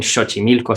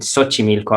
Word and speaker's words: Xochimilco: ese no que actualmente la mayoría de mexicanos en la ciudad de mexico en la república no le dice en xochimilco sino que le dice en xochimilco aunque tiene la equis ahí se ha convertido en ese sonido de ese igual que xóchitl en